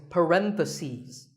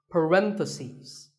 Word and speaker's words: parentheses: you're talking about both the plural is parentheses the last syllable becomes CES parentheses word number 47 is